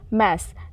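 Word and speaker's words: mass: भी ध्यान देना होगा मैस एम A double S मास नहीं इसको हम प्रोनाउंस करेंगे इसका अर्थ होता है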